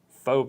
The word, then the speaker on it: faux: a cauliflower potato wish faux potato yeah faux mashed potatoes yeah yeah fob is spelled faux which is weird I would have liked